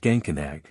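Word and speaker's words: Geancanach: The word is pronounced Gancanag.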